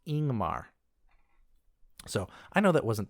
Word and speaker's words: Yngmar: And one last example, YNGMAR. Looks like it should say Yingmer, but it's actually pronounced Ingmar.